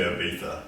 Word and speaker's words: Ibiza: It's technically Ibiza, Yeah, but Ibiza. Where's the TH? it's a silence said, but Silent it's spelled Ibiza, yeah.